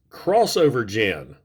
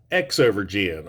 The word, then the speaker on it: Xovergen: on a side note right there that is pronounced crossover gen not x over Jian or zou verge in but I'm really not gonna be pronouncing that